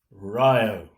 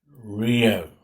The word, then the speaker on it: Rio: And it is pronounced, as Stan Hugo would have said, Rio, not Rio.